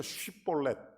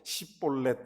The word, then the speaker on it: 쉬볼렛: 그래서 이 사람들이 쌍시옷 발음을 잘 못해요. 그래서 쉬볼렛 하게 한 겁니다. 근데 이 사람이 쉬볼렛을 못하고 시볼렛 이렇게 얘기하니까 그때 에브라임 사람을 이 발음으로 가려내서 죽인 사람이 42,000명입니다.